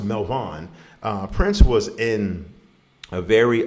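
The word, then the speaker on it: Melvoin: It's pronounced Melvin.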